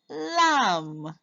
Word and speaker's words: lamb: is some fed the lamb remember the bee is silent sam fed